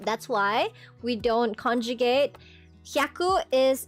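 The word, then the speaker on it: 百: Hyaku is you don't conjugate hyaku. It doesn't become yaku.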